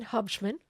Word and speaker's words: Hubschmann: All right, so we have an awesome guest today, Hubman. Did I Did I pronounce it right?